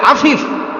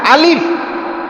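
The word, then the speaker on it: ألف: তো মুরব্বী বলে আফিফ। আমি বলি আলিফ, মুরব্বী বলে আফিফ। আমি বললাম আফিফ না আলিফ।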